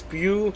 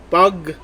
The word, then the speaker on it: Pugh: is florence bug's performance i know the pronunciation of her last name is pew but i'm going for florence you pug so miss florence here